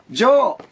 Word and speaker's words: 城: 兵庫県出身、中学 1 年生、12 歳、白と書いてジョーと読む、ジョーことジョーエリコです。